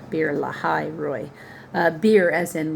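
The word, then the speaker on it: Beer Lahai Roi: me that is why the well was called beer La Roy beer La Roy the H is pure ly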